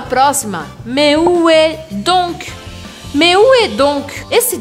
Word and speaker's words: donc: Mais où est donc? Mais où est donc? Esse donc, eu preciso pronunciar o C no final da palavra.